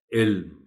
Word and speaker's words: علم: بار تلقین کیجیے کہ اس طرح کے 3 حرفی الفاظ جن کے درمیانی حرف پر جزم ہوتا ہے، اس کو درست تلفظ کے ساتھ پڑھیں، جیسے یہ لفظ ہے علم۔ چرند پرند، محترم ٹیچر،